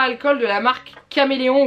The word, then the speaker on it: Caméléon: Alors moi j'ai une grosse boîte de feutre à alcool de la marque Caméléon ou Chaméléon, je ne sais jamais comment ça se prononce, normalement c'est Caméléon, mais je sais pas, bref.